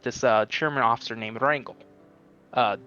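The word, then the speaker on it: Wrangel: uh chairman officer named Rangel uh W well it's probably pronounced Frankel because it's w-r-a-n-g-l he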